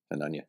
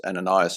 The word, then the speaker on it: Hananiah: I think it's pronounced Hananiah as well. Yeah, I think. Yeah, Hananiah. Yeah. So that's we know them as Ananias and Sapphira, but it's Hananiah in Hebrew.